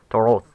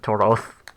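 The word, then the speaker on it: תורות: This is a series of Toroth. So yeah, Toroth. And syllable stress will always go to the plural suffix, even if the syllable stress was not on the last syllable of the original word.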